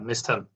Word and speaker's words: Mysthem: Yeah, Mysthem.